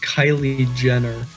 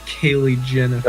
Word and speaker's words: Kylie Jenner: So first off, it's pronounced Kylie Jenner, not Kaylee Jennifer.